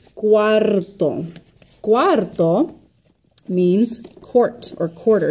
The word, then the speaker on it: cuarto: Cuarto, okay? Not to be confused with number 4, which is cuatro, cuatro, or cuatro.